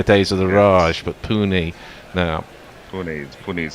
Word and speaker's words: Pune: Because it was always Pune, wasn't it, in the days of the Raj, but Pune now. Pune is how it's pronounced.